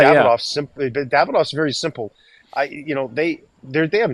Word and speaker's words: Davidoff: Davidoff's another one. Davidoff, two syllables.